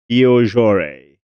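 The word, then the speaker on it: Beaujoire: It is this Stade de la Beaujore. Beaujore? If you're French, please correct my French pronunciation, because it is not so good.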